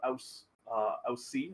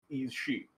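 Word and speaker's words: Aos Sí: Oh, it says there's actually pronunciations for them in the precursor, which is the Sao-In and Yi-Shi. So I was way off.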